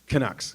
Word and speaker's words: Canucks: Yeah, they they How you pronounce it? The Canucks? Canucks.